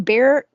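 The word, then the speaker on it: Bexar: on my show and he's from Bear County Bigfoot it's spelled b x a r Bear County uh he came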